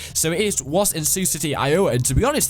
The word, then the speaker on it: Sioux City: Thanks for the guy who did say or told me how to pronounce Sioux City. So it was in Sioux City, Iowa, and to be honest, the crowd was so dead.